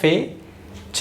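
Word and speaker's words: fetch: ध्यान देना है कि ये जो T बीच में आ रहा है यहाँ पर फेच, मैंने इसे प्रोनाउंस किया फेच। T का कोई साउंड यहाँ पर नहीं होगा क्योंकि T यहाँ पर साइलेंट है। T साइलेंट, T को आपको प्रोनाउंस नहीं करना है। तो सेम यहाँ पर भी T साइलेंट होगा, यहाँ पर भी होगा, यहाँ पर भी होगा।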